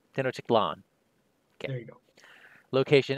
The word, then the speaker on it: Tenochtitlan: It is Tenochtitlan. After the first Tenochtitlan location enters play by exploring... Or Titlan, sorry. Emphasis on the A. Tenochtitlan.